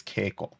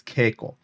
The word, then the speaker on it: Keiko: like it's coming then the K gets softened to a g all right but it's still the same word and the word is Keiko but the pronunciation turns to a g to soften it okay because it's easier